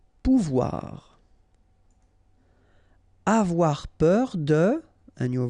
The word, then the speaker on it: pouvoir: O and U together, ou, pouvoir.